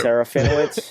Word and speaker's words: Serafinowicz: What's his last I can't pronounce his last name either. Serafinowicz, is it?